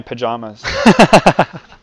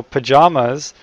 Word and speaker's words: Pyjamas: I might be in my pajamas.